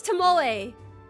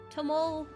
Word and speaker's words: Tomoe: My name is Tomoe. Tomoe. If you think of it, it's like Tomoe.